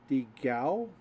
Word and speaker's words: Digao: Call him Dialgo. It's not how it's pronounced. I apologize. That's Digao. Digao. I wish I could pronounce names better. They're from Brazil, so that's Portuguese.